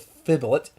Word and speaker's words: Fblthp: lost gets a reprint with fiddle it I believe it's how you pronounce his name one blue for ebony